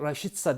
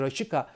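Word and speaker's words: Rashica: sonradan oyuna girmesi vesaire raşişka düzelterek söylüyorum ya da raşitsa diyorlar Bence rakika doğru telaffuz raşita'nın harika performansına rağmen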